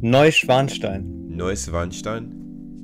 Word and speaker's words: Neuschwanstein: Schloss Neuschwanstein. How do you say it again? Neuschwanstein.